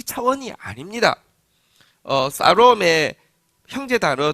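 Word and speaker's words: שָׁלוֹם: 사롬. 영어로는 샬롬이지만 히브리 발음으로 다시 한번 따라하겠습니다. 사롬.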